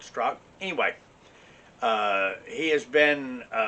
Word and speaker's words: Strzok: me brandon strzok um it's spelled strzok but i think he called it struck anyway uh he has